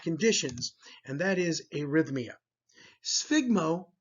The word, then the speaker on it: sphygmo: Sphygmo, notice the pronunciation, the PH makes an F sound.